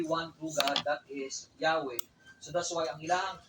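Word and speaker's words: Yahweh: So kanya tandaan ko yahwe this is a descriptive name dili na siya proper name. So descriptive name siya sa Ginoo gitawag nila Y H. Ang pronunciation ana is Yahwe.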